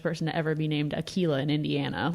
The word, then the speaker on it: Aquila: and so they thought, okay, Aquila is a little more of a feminine pronunciation, but they wanted something different. I'm pretty sure that's the first person to ever be named Aquila in Indiana.